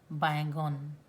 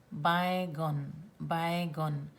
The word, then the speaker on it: baigon: Then the eggplant is called baigana in Odia, and in Ogriya it is pronounced baigon. Not baingan, baigon.